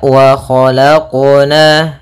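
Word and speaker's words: وَخَلَقْنَا: Nah, kemudian untuk qalqalah dalam huruf qaf jangan sampai adanya saktah ataupun adanya tambahan huruf seperti huruf hamzah. Misalkan wa khalaqna itu ada tambahan hamzah. Harusnya dalam pelafalan qalqalahnya tidak ada tambahan hamzah ataupun saktah. Ya, kan tapi dia langsung saja mengalir.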